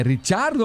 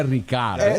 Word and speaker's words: Ricciardo: É Ricciardo ou é Ricardo? A pronúncia correta é Ricciardo.